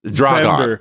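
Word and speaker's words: Dragan Bender: They spell it Dragan. It's like Dragon. Yes. Dragon. Bender.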